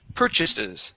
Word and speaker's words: purchases: And this word here is purchases, with the stress at the beginning.